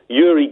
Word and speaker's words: Uri: I love Uri Geller, and it's pronounced Uri, and it makes me very uncomfortable saying Uri in the same way it makes me uncomfortable to say Moog and not Moog, but that's how they're pronounced.